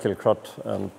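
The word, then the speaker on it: Kilcruit: know it's uh it's we always know as killcrut i was actually surprised when i saw the spelling with the eye in the middle of it um but anyway it's pronounced kill crot it always has been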